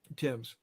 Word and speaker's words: Thames: when we have him on, we're going to ask him for the pronunciation of the Thames. Tim's.